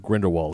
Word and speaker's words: Grindelwald: me as mad as crimes of Grindelwald I was like rhymes with grin was last year yeah